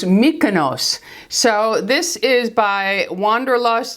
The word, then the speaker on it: Mykonos: told me it is her husband was Greek and she said it's pronounced Mykonos so this is by